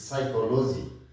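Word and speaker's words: psychology: এরপরে PS তে স, P sound হচ্ছে না, যেমন PSY, সাই, কো, CHO, কো, লজি, LOGY, লজি। আমরা বানানের সুবিধার্থে অনেকে মজা করে এই শব্দটিকে এভাবে উচ্চারণ করি, বানান করি, পিসি চলো যাই, বাট ইট ইজ নট পিসি চলো যাই, দিস ইজ সাইকোলজি, মনস্তত্ত্ব বা মনোবিজ্ঞান।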